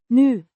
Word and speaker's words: nu: New adverb meaning now or currently pronounced new. Similar to the English new but shorter.